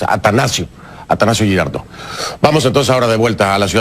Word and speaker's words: Atanasio: quiero hacer una corrección pronuncié mal el nombre del estadio atanasio Me parece que dice dije Anastasio no es atanasio atanasio girardo vamos entonces